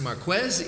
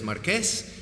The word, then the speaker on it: Marquez: His name is pronounced Marquez, even though many people here are going to remember him as Marquez.